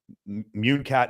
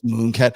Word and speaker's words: Munecat: that sort of like munat is it munat or moonat how do you say moonat it's moonat I did yeah she